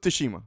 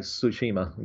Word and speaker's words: Tsushima: of - Smith - Shima the ghost of Toshima whatever anyway Clarence are you pronounce it Joseph Toshima I would say don't pronounce the T is like Tsushima ghost of Tsushima anyway it is so I'm